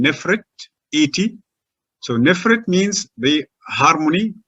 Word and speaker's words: Nefertiti: and we understand that we shall say her name nephrite so nephrite means the